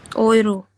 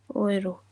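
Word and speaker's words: Euro: Ma'am यूरो को कैसे pronounce करते हैं? किसको? यूरो को। ओयरो। ओयरो।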